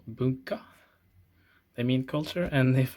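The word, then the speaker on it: 文化: together mean culture and the pronunciation is like bunker they mean culture and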